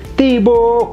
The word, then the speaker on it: Thibaut: Dibacanya seperti itu karena kombinasi AU itu O ke atas. O gitu. Kemudian H tidak bunyi. T dari kata Thibaut itu juga akhiran yang tidak bunyi. Biasanya tidak bunyi.